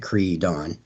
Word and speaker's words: Creedon: she becomes Creedon, yeah, that's how you would say it, Creedon.